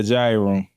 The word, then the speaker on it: Jaiye Room: The Jaiye Room. Yeah. Did I pronounce it right?